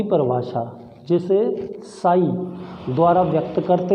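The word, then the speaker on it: psi: जल विभव, जल विभव साई या साई डब्ल्यू, ये इसको प्रदर्शित करने का तरीका है बेटा। इसको ना हिंदी में साई बोलते हैं, इसमें पी साइलेंट होता है।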